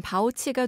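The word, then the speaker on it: 保七: 알아보겠습니다 바오 7란 한자 지킬 보에 숫자 7로 이루어진 단어로 중국어로 발음하면 바오치과 됩니다 7을 지킨다는 뜻이 되겠죠이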